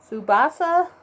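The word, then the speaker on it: Tsubasa: might say i got zubasa which this t is silent it's a japanese anime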